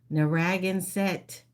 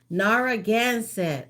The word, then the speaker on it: Narragansett: Narragansett.